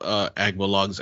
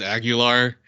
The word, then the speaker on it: Agbalog: But some like pronounce it as Aguilar or Abalog. Like they would miss some letters in in the last name, and like you got it right the first time.